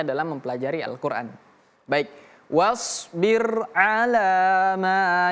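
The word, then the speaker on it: على: Perhatikan huruf ain. A a. Hati-hati jangan ala bukan wasbir ala tapi wasbir ala ala wasbir ala 1 2 3 wasbir ala a bukan a bukan ala a i u berbeda dengan a i u ini a wasbir ala maa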